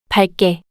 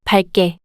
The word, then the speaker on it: 밝게: 밝게, Is an adverb meaning brightly in English. Only 리을, is pronounced among the complex consonant, and the initial consonant